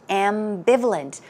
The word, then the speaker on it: ambivalent: there was the word ambivalent ambivalent notice that the stress goes right here on the second syllable and some synonyms are doubtful uncertain hesitant or unsure now if you say that somebody is ambivalent as I mentioned you're